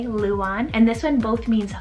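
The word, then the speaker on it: Luan: we have the name luon spell l-u-a-n this one's pronounced in english the exact same way luon and this one both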